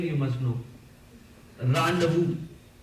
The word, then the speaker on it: rendezvous: There are so many syllables in there, but rendezvous. It is not rendezvous. Rendezvous.